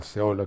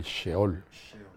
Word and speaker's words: Sheol: La ira o el Seol, que también lo podemos pronunciar la ira o el Sheol.